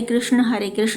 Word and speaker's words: कृष्ण: बस विदेशियों की तरह हरे रामा हरे कृष्णा मत कहिए, उनको उच्चारण में समस्या है, पर हमें तो नहीं है।